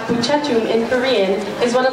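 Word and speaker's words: 부채춤: The Korean fan dance, pronounced Buchetum in Korean, is one of the most popular and well-known traditional dances in Asia.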